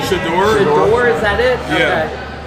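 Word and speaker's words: Shedeur: the quarterback from Colorado, and I can never pronounce Deion Sanders' son's name. Shador? Shador, is that it? Yeah. Okay. Shador.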